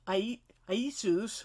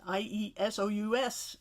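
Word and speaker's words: Ἰησοῦς: And you'll notice in the Greek text, the name for Joshua is Iesus, or Jesus, more like the y sound, exactly the same as it's spelled and probably pronounced in the New Testament for Jesus. That's how it's written in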